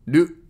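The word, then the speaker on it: る: Ru. Ru is pronounced like a combination of ru in rule or root and lu in loop.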